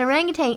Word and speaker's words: orangutan: There's no G at the end of orangutan. I didn't say it. Oh, okay, good. I might have orangutan. Or its actual original pronunciation is orang-utan. I think that's a basketball player from Yugoslavia. Anyway. Really? Well, that's how you would say it if you were in Kuala Lumpur or something.